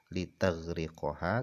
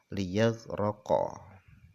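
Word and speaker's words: لِيَغْرَقَ: Jadi huruf ya-nya itu dibaca fathah. Jadi bukan litaghriqoha tapi liyaghriqo. Kemudian warra, kemudian dibaca fathah ro-nya. Jadi ro-nya dibaca liyaghraqa.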